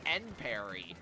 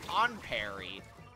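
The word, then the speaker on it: Enperry: Apparently, the official pronunciation of that gear brand is end parry, not on parry, like the phrase on guard.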